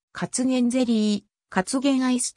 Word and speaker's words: カツゲン: jerry in かつげ宮カツゲンゼリーカツゲンアイスといったカツゲンの風味を生かした製品も存在する発音は先頭のかにアクセントがある 2005 年 12 月